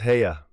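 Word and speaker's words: Haigha: happy his name is hea he pronounced it so as to rhyme with mayor I love my love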